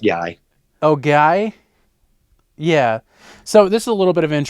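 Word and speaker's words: Gaia: Elizabeth April on the gay unexplained you can say that can it's pronounced guy oh guy yeah so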